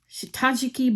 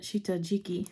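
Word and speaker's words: 下敷き: do that so anyway this is the new shitajiki board um I was pronouncing it wrong I was pronouncing it Shiki but that's apparently incorrect so if you ever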